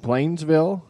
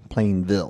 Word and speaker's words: Plainville: So for the listeners, he said Plainsville, correct? Plainville. Plainville, not sorry. plural.